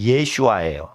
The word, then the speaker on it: 예슈아: 구원 구원할 자이기 때문에 히브리 발음으로 구원이라는 단어는 발음이 예슈아 그래서 예수와는 사람 이름도 되고